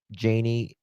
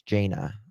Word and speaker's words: Jana: The body was lo later later identified as Janie. Oh no it's not Janie. It's Jana I think it is Jana. You pronounce it Jana.